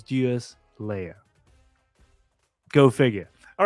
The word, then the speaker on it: Deuslair: world of fuel Slayer I actually did watch the video in order to pronounce this properly so it's Duos Leia go figure all right